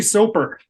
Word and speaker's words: Soper: Soper.